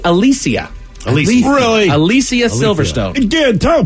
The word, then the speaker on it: Alicia: I would say Alicia. Alicia Silverstone. It's actually Alicia.